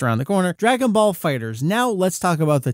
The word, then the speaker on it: FighterZ: the press release and the Japanese title it appears to just be read as straight up Dragon Ball Fighters were it to have a letter Z pronounced as the letter Z as in the title Dragon Ball Z where that's written out as the dragon B zetto it's not there it's not Dragon Ball fighter zetto it is Dragon Ball